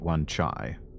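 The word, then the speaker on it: Wan Chai: Hong Kong onai District I think the proper pronunciation of it is supposed to be onai but in this game if I remember right they do pronounce it one chai santour Versa life underground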